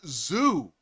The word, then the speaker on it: Zhu: You know, ZHU, pronounced zoo.